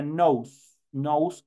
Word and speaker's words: nose: como si sabes inglés entonces se escribe obviamente no sé pero se pronuncia nos nose es nariz boca mou